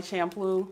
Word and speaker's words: Champloo: Some people say Champloo and Champloo and Samurai Champloo. yeah. I just say that. That's what I say. Yeah. I think that's correct too, because it's CHA, so it wouldn't be shampoo.